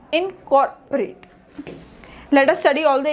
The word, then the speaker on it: incorporate: So COR is the primary sound. The next is O has the reduced sound, so the word pronunciation is incorporate.